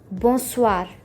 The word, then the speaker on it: bonsoir: When you want to greet someone a good evening, you say bonsoir. Say it with me to get the pronunciation right.